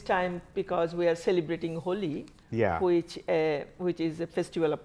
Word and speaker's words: Holi: Is it Holi? Is that how I pronounce it? Holi. Holi, okay.